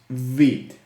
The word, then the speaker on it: Vite: It is pronounced Vite, no Vite, like biting stuff, or Vite, no, it's Vite. And it means fast in French.